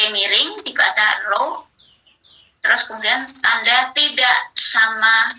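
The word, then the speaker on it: rho: dilihat di, di handphone, itu huruf P miring, simbol statistik itu. Jadi P-nya tidak lurus, tapi miring, dibacanya row. Jadi H0 ya, titik 2 row sama dengan 0.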